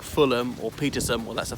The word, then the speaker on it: Fulham: second syllable, well, like Fulham or Petersham, well, that's the third syllable. Balham, too many to mention. This one, and usually if it's not the first syllable, it's just that the H is silent, like Fulham, not Fulham, or Birmingham.